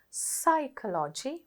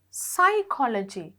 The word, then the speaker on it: psychology: whole word and see psychology honorable knowledge leukemia here you see psychology spelled starting with p spelled with the p but you don't pronounce in the next activity